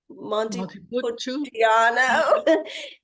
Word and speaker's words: Montepulciano: Montepulciano.